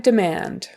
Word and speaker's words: demand: um stealth stealth Drive demand Drive demand so we say demand demand it's really fast that first syllable because the accent is on the or the stress is on the second syllable demand Drive demand du